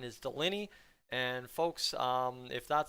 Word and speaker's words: Dolynny: those of you just joining us here on dolany tv ahead of tonight's hockey game i'm this is doliney tv i say that wrong if anyone uh